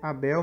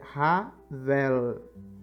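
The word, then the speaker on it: הבל: meio da sua fé Abel mesmo depois de morto ainda fala então não hebraico a pronúncia não é a Bel tá é Ravel Ravel a Ah tá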